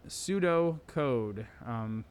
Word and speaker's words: pseudocode: pseudo code it's pronounced pseudo code not with a p it's a silent p kind of pterodactyl so it's a way